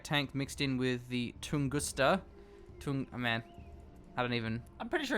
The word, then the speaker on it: Tunguska: Going for some Kodiak tank mixed in with the Tunguska. Oh man, I'm pretty sure you nailed that. Tunguska.